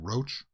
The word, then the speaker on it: Rauch: Rauch was in, well, actually, I should probably have watched the clip to see how she pronounces her name. Roach.